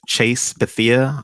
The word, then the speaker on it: Chase Bethea: So starting from your name, because I would not try to misspell it. So please. Absolutely. My name is Chase Bethea.